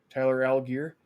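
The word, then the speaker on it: Tyler Allgeier: Tyler Algier.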